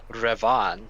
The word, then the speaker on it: Revan: by the way uh no no no it's pronounced revon CRA you're Darth Revan no we're Darth no we're we're revon no